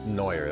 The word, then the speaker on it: Neuer: Neuer. That's how you pronounce that.